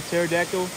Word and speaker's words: pterodactyl: Probably a pterodactyl, only because like it doesn't sound how it's spelled. And it confused me when I saw there was a P in the front.